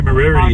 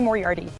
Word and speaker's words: Moriarty: I think you got to have the accent on the right syllable.